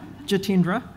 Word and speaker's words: Jitendra: those that are wondering how to say my name that's it up there the solely three syllables jitendra I'll be testing you